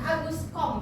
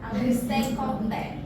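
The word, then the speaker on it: Auguste Comte: Sehingga ada tokoh sosiologi namanya Agus Kom bacanya ya, bukan Agustus.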